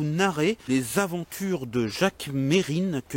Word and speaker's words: Mesrine: les aventures de jacques mérine que les journalistes appelés comme par erreur jacques mesrine mais qui a un qui ne se prononcent pas dans son nom c'est mon cas aussi